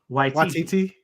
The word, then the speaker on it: Waititi: Taika Waititi.